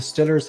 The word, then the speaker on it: Steelers: I believe the Pittsburgh Steelers, or I think the correct way of pronouncing it is the Stillers. How about them Stillers? I think that's the Stillers. That's the way they pronounce them.